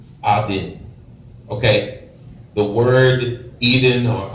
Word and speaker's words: Eden: original state, okay, was Eden, very more properly pronounced Aden.